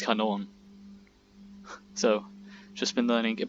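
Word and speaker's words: Kanone: the way, and also how it's not really canon, it's Kanon.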